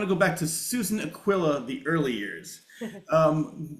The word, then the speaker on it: Aquila: In this country we say Aquilla. Okay. And Aquila in in Italy. Okay. So it's Susan Aquilla. I want to go back to Susan Aquilla.